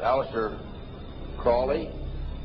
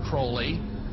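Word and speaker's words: Aleister Crowley: I learned about was Alistair Crawley he likes to have his name pronounced Crowley to rhyme with holy and uh the Satanist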